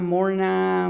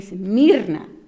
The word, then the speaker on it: Mirna: thing you can say, I've been called Mirna, Morna, Marna, Irma, and so it's okay. I understand, they don't know how to pronounce it, and then I mispronounce it a little bit so they can actually, pronounce it well. It's Mirna, and but it's no. My name is actually Mirna, and so.